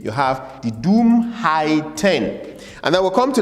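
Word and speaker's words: Dummheit: to this the next one is height the Doom height the Doom height pronounce it the Doom height and doom height simply means stupidity the Doom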